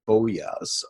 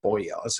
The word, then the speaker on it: boyar: by the noble class the boyas or boyars again depending how you pronounce it and then an